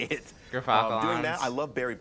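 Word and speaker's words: Gyrfalcon's: We That's- actually, off screen, we're figuring out how it's pronounced. But Gerfalcons, everyone. So anyone who mispronounces it, that's how you say it. Gerfalcons.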